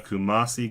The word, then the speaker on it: Kumasi: If I pronounce it wrong, he will probably kill me. But it's Kumasi Ghana Temple.